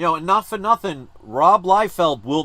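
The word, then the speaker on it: Liefeld: mispronounced that Rob lield who I always thought was Rob Li field but it's Rob lield and the late great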